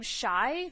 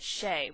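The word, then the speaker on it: Shai: sheilu I always want to say her name shy but I have it from I think Josh and meesh from 17th star that Brandon actually pronounces it Shay which is interesting it's also kind of awkward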